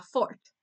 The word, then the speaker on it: fort: Therefore, fort you wouldn't pronounce the T.